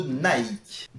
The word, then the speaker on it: Nike: mot que vous avez déjà tous sans doute prononcé au moins une fois dans votre vie je veux bien sûr parler de nike tu veux dire nay qui en fait ne